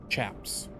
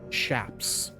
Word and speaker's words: chaps: Secondly, it's pronounced shaps.